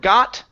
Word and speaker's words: got: What I want to work on is the T sound at the end. Okay, so here you said she got up. Okay, got up to walk. Okay, so pull your tongue off the back of your teeth.